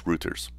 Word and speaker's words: Reuters: rulers yeah I'm trying to remember how to pronounce it I think it's Reuters it's a total of 79 million Prime subscribers